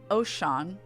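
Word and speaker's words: Oschon: gridania because I'm gonna be an Archer uh oh Sean is how you pronounce it uh is the ruler of mountains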